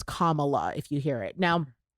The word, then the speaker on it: Kamala: name correctly so uh just letting you know it's commala if you hear it